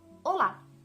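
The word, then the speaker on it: Olá: first part Ola Ola in Portuguese is Ola Ola so the intonation is in the last syllable in Italian we can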